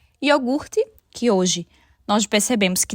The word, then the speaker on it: iogurte: transposição por uma posição diferente em relação a sílaba iogurte que hoje nós percebemos que diversos falantes acabam trocando o r de posição yorgut perguntar muitos falantes acabam trocando também a posição